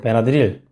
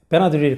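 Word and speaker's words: Benadryl: 발음이 좀 차이가 나는데, 베나드릴. 미국 사람은 베나드릴을 그러지 않죠. 베나드릴. 항상 액센트 앞에 들어가야 됩니다. 베나드릴이라 그러면 미국 사람 못 알아들어요.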